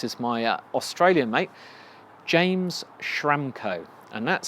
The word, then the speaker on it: Schramko: And today, this is my Australian mate, James Schramko. And that's spelled Schramko.